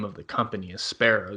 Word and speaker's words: espero: name of the company espero the way it's spelled is hope and Latin and that's that's always